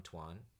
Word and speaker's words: Toan: I'm Toan. You pronounce it like Antoine with the and, so it's Toan.